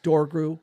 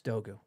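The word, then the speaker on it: Dorgu: Um, so you know, Dogu really everyone thinks it's Dogru. Look it up. It's Dogu. R is silent.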